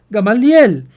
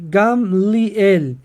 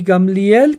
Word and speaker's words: Gamliel: cual rambang gamliel usted probablemente pensaba que se pronunciaba gamaliel pero la pronunciación correcta en hebreos gamliel y gamliel como todos saben fue el maestro fariseo de